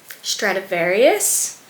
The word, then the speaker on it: Stradivarius: I just got these really soft, comfortable satin black pants from Stradivarius. Yeah, that's how you say it.